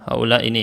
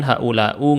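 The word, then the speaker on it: هؤلاء: lihat mereka orang-orang Yahudi Haula ini ya Haula ini pasti seperti ini haulai kalau kita lihat teks seperti ini pasti bacanya haulai enggak mungkin yang lain enggak mungkin haulau enggak mungkin harakatnya berubah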